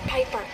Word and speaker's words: Piper: change today Amanda bind the name's Piper rhymes with Viper and Robin Williams I'd